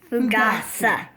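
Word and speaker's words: Fougasse: Fogousse.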